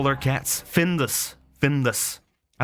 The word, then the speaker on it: Findus: Findus. Findus. I like Findus. Findus is spelled with a U.